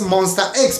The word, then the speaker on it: MONSTA X: Aquí para Latinoamérica, pues lo pronuncias Monster X, porque pues la S se combina con los demás sonidos. Pero en coreano no, en coreano la S tiene su propio sonido, pero no puede sonar sola.